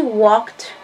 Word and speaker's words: walked: Y cuando está en pasado, por cierto, se pronuncia como t. T. Esa idea se pronuncia como una t.